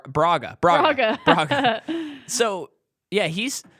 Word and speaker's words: Braga: take down this Kingpin Vargas I did not pronounce that correctly what is his name Baga or Raga it's it's uh uh uh Braga so yeah he's like